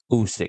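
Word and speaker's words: Usyk: loss apparently oi usk Alexander usk that's how you pronounce his name you know I watched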